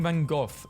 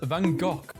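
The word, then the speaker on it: Van Gogh: win in this too this country Americans saying vanov is pronounced vano British saying it's pronounced vanov it's a Dutch name and Dutch pronounce it as vanok meta is threatening to shut down Facebook and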